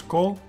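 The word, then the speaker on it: כל: Kaf, kametz chatuf, lamet. You pronounce it as kol, and it means all.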